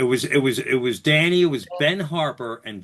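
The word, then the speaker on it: Dhani: So that the kind of thing happened when you interviewed Donnie? Yeah. Um it's it's actually Danny is how he pronounces it.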